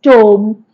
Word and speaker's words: tomb: Tomb is tomb. Fine. Doubt. So the sound or the letter B is silent in some of the words.